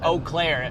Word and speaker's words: Eau Claire: It was Eau Claire. Eau Claire.